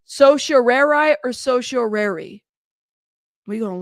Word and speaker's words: certiorari: It can be said two different ways. Certiorari. Certiorari? Certiorari, or it is also correct to say certiorari. Certiorari or certiorari?